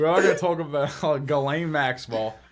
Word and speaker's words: Ghislaine: going to talk about galen maxwell is it galena or what did you say it's gallane you're saying it right it's spelled like jizzling